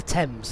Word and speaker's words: Thames: it thames here in england otherwise that's the thames and that's a big river in london how that's spelled um yeah so i'm not gonna find